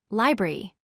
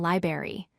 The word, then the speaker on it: library: It has 3 syllables, library. A common mistake is dropping the first R and saying library. Always include both R sounds.